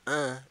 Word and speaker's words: un: And un is how you pronounce un when you take off the E. So un, the indefinite article that stands for a in English, the word a in English, the feminine form is une, the masculine form is un.